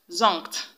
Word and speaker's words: zonked: And when you have N and K together in a word, the N will be pronounced as ng.